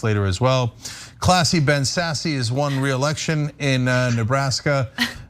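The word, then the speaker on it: Sasse: as well classy Ben sassy is won reelection in Nebraska um of course he's not classy nor is his last name pronounced sassy nor is he sassy right uh it's Ben sass the Republican senator from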